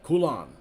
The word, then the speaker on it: Coulon: I pronounced it well, Coulon. I pronounce it the French way.